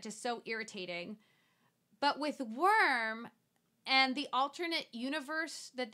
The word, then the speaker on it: Wyrm: so the main so the title worm is the name of the main character is spelled Wyrm and he is in